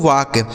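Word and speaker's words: walk: ठीक है यहां देखिए एल है तो एल यहां पे साइलेंट होगा मतलब इसे नहीं पढ़ा जाएगा के से हो जाता है क इसे पढ़ेंगे दोस्तों वाक इसे वाल के बिल्कुल नहीं पढ़ा जाएगा क्या पढ़ा जाएगा वाक वाक मतलब क्या होता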